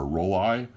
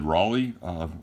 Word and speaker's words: Rollei: is a Rollei or Rollei camera. And it's pronounced, I've always said Rollei. I've heard people call it Rollei, like R-O-L-L-E-Y-E. Rollei. I always say Rollei.